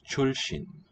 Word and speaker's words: 출신: And Korean has this compound too. 出身. It's pronounced 출신.